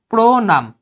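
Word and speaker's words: প্রণাম: প্রনাম, প্রথম, প্রহার, বানানগুলো দেখো, প্রনাম ওকারের মতো হচ্ছে জন্য প্র, নয়াকার না, এটা আমি দন্তন্য দিয়ে লিখবো, আর প্রনাম মতে থেমে যাচ্ছে তাই হসন্ত, প্রনাম।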